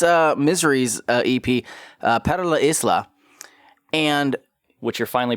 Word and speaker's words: Para La Isla: I I had it wrong the entire time I was saying it with a silent s.